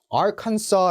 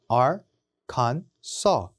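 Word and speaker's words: Arkansas: 것 같잖아요 그렇지 않습니다 ar 만 붙었다고 해서 요 발음을 같이 해주는 게 아니라 전체 발음이다 달라집니다 악한 써 라고 읽으시면 됩니다 아 간 써 r 갠 써 와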